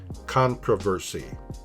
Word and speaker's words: controversy: American pronunciation, controversy. Listen to the video for the very different British pronunciation.